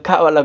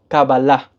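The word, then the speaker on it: קבלה: cabalá o o de cábala Como dice Mejor dicho ya explicaba en un video anterior que la pronunciación correcta en hebreo es cabalá en castellano le llaman cala Pero es kabala en hebreo Pero bueno eventualmente en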